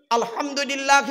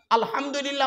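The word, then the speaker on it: الحمد لله: আলহামদুলিল্লাহি রাব্বিল আলামিন। আলহামদু, মা বোনেরা শুনে নিন, আলহামদু হাই হতি গলার ভেতর থেকে হেটা উচ্চারণ করবেন। আলহামদুলিল্লাহ, আলহামদুলিল্লাহ মানে হচ্ছে সমস্ত প্রশংসা আল্লাহ তোমার।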